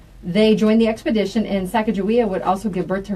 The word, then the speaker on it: Sacagawea: part of some individuals with names I cannot pronounce Alan G way they joined the expedition I think oh it's Sacagawea I've just never I don't know I've ever